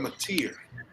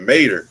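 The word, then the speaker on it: John Mateer: John Matier, that's how you say that's really how you say his name. Oh, I said Mater.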